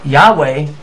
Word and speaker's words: Yahweh: now often pronounced as Yahweh although Yahoo is probably the more correct pronunciation so here we've established